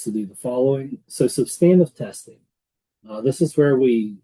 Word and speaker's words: substantive: So substantive testing, and yes, the word is substantive. Whenever I started to work, I basically thought that everybody I was working with was an idiot and didn't know how to say the word substantive, but it's actually substantive. It's an accounting word that's not used anywhere else except for in accounting.